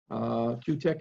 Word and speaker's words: KiwiTech: I'm really looking forward to learning more about KiwiTech, Q-Tech actually, proper pronunciation, and I'm glad to be speaking to everybody today.